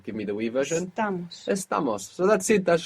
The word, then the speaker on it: estamos: And for the we version, the accent is where it should be, because we're adding 2 syllables. So give me the we version. Estamos.